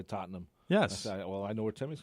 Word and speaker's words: Tottenham: what you like better that's not how it's pronounced anyway Tottenham thank you lost on Sunday to Chelsea my